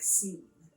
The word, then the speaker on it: Sean: But like Sean, like we know Sean as S-H-A-W-N. I think that might be like the Americanized version. But obviously like the Irish or Gaelic version is S-E-A-N, which looks like Sean.